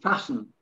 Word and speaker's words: fasten: When you fasten a belt or something, silent T, fasten.